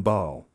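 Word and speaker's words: Baal: So Father Rossetti continued and ordered Ba'al to leave, and he pronounced his name with two syllables. But to his surprise, the demon firmly corrected him. It is Ba'al and pronounce it with one syllable.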